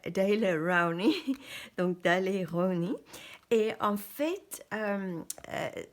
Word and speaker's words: Daler-Rowney: Euh en anglais on prononce ça Daily Rowny.